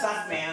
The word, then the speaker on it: Sukman: That's like a suck man. I don't know. But it is pronounced Suckman.